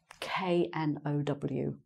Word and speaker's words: know: K-N-O-W. Okay, that's one of our famous silent letters, the K at the beginning.